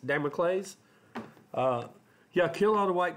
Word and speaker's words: Damocles: well how's that day how do you say that day mocha lay David Amick lays David clays dimo clays Damocles yeah killing all the